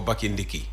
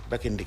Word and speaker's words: Bakindiki: you know, that last syllable never, you know, I used to hear Nyomi Bakindik.